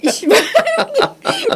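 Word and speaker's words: Seba: 이 그 왜 이 쉐바 고수가 그 이 사람이 그죠? 네. 내가 웃은 게 이 사람 이름이 실제로는 미국에서는 시바라고 해요. 아 그래요? 뭐 한국에서 참 발음이 그래서 제가 그죠? 시바 그래서 제가 네.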